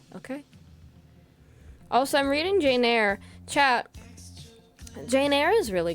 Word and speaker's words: Eyre: Eyre with an E. It is spelled funky. It's like E-Y... R-E, air.